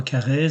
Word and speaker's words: Carrez: Donc loi Carré, loi Carrez, comme vous voulez. Bon, moi je prononce loi Carré, ça c'est vous qui voyez.